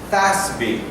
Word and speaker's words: FASB: It's pronounced as, in English, FASB.